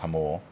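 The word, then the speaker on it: Jamul: And uh we had learned when we were there it's pronounced Hamul.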